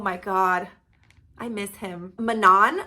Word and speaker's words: Manon: God I miss him Manan which I'm not sure if you pronounce it Manan or Manon but I say Manan she's one of the